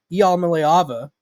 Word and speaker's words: Iamaleava: And so, if you're not familiar with what I'm talking about, Tennessee quarterback, let me write out the pronunciation, Nico Iamaleava, is in the transfer portal.